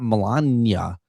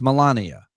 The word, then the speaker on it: Melania: Like, it's not it's not Melania, it's Melania.